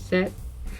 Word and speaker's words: 셋: so one is hana you don't pronounce the t at the end strongly as we pronounce it in english so it's set and then four is